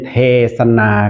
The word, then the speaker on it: เทศนา: สันสกฤต ครับ เป็น เทศน์ ถ้า เรา อ่าน คำ ว่า เทศน์ หน หนู ก็ จะ เป็น มี การัน ใช่ มั้ย ครับ แต่ ถ้า อ่าน ว่า เทศนา ก็ จะ เป็น สระ อา ที่ นอน หนู แต่ ว่า สะกด ด้วย สค ศาลา เหมือน กัน นะ ครับ และ หลัก